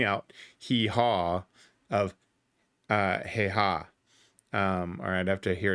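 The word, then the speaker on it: Häyhä: So the Simo, hey ha. It may take me a little bit to pronounce that correctly.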